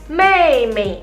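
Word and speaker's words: 妹妹: Kalau adik perempuan berarti bacanya mei mei, adik perempuan.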